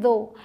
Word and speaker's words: though: आगे THOUGH, इसे बोलते हैं दो। अब यहाँ OUGH की जो प्रोनाउंसिएशन है वो है O, TH द और OUGH O, दो।